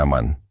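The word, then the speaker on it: אמן: Esas 3 consonantes, Aleph, Mem, Nun, forman la raíz que se pronuncia amán, y esa raíz no tiene un único significado.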